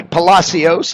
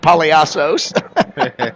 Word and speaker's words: Palos: by Bernardo Rodriguez pazos that would be Palos I should say not poos I butchered that one uh Bernardo Rodriguez Palos